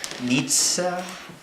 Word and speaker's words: Nietzsche: them in every philosophy how do you pronounce it again Nietzsche Frederick Nitza in my life I've